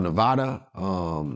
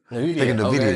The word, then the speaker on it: Nvidia: I think it's called Nevada. Nevada. It's blowing up in the tech space. It's like one of the biggest companies on the stock market. I think it's pronounced Nevada or Nvidia. Nvidia, yeah.